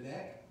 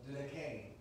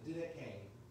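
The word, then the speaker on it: Didache: it is pronounced the decay the e at the end is not silent apparently it has an a sound to it it is the d k these are considered two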